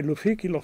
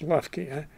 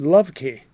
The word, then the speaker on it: Loeffke: i was in china the chinese had a hard time trying to pronounce my name they would say luffy lo they couldn't pronounce lufky and they came out with love key so i've used that from then on love key and i use that beautifully because in chinese it sounds very nice i they also and